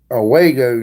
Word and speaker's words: Owego: Rainbow Valley used to live in Owego, New York.